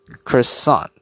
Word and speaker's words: croissant: so far, like, yeah, apparently if you're to pronounce like croissant, oof, yikes, croissant in this case. There you go, croissant, right? Yes, I've heard people would say like croil and then sant, so then they kind